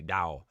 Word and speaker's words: Dao: Dao. Dao rhyming with wow.